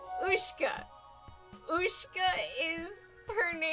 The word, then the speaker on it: Ushka: I was telling you the difference between spelling for your pronunciation. Oh, I'm You have me dying right now. I So, it's Ushka.